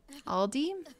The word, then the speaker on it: Aldi: money right um nelly aldi in your country is pronounced al like the name then d aldi like that oh so you